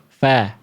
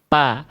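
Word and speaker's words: ف: Ini pelafalan aslinya nih. Hah. Fa ya. Lagi fa. Ah fa. Jadi bukan antara bibir dengan bibir pa ya enggak akan keluar nafasnya Bunda.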